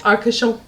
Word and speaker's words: Arcachon: Arcachon. Very good pronunciation.